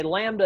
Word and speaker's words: lambda: Okay, lambda is spelled L-A-M-D-A if you want to know how it's pronounced, but it's the Greek letter lambda, just like alpha, omega, beta, so forth.